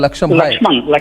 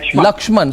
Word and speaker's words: Lakshman: from Baroda from Baroda laksham lakshman sorry I got your name wrong how are you lakshman